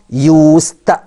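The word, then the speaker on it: used: كلمه رايد على طول وخلي بالك الكلمه دي طالما جايه بمعنى اعتاد ان بنطقها يوست يوست بالت مش دي يبقى يوست ارجع برض القاموس عشان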